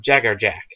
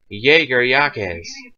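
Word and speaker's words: Jaegerjaquez: if you want but if you actually want the Spanish Jager yakz if you want if you want the lital pronunciation of the syllables it'ser yakz or Jager Yak because a QE Z or S and some langes can be is Jack or jacks or jackz but in but bleach it's Jagger Jack so yeah just to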